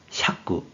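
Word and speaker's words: 釈: 그래서 풀석이 되었고 뜻으로는 비상용 한자로 쓰일 경우에는 토꾸, 토꾸, 한편 음으로는 샤꾸, 샤꾸로 각각 읽는다고 했어요.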